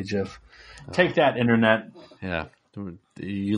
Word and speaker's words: GIF: makes for a good gift too anytime i don't say gif i say jif take that internet yeah